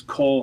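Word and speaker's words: כל: So this is actually going to be the kamatz katuf again. So it's going to be an O.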